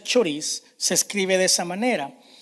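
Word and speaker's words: χωρίς: Fíjese algo interesante, que la palabra separados proviene del término griego, se pronuncia choris, se escribe de esa manera.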